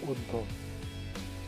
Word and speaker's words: অর্ধ: যেমন উদাহরণস্বরূপ বলা যায় অর্ধ। এখানে অর্ধ না বলে আমরা বলি অর্ধ। অ এর উচ্চারণ উ এর মতো উচ্চারিত হয়। নিয়ম 3 বলা যায়, অর্ধ